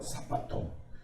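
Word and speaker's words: σάββατον: 근데 이제 오늘 요한복음 5장의 본문에서 이제 유대인의 안식일은 사바톤이라는 사바톤이라고 발음을 합니다. 사바톤.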